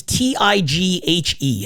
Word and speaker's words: Tighe: Is it not Teague, like Jeff Teague? It's Tighe.